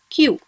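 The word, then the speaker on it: きゅ: When ki joins with a small u, should be pronounced as q.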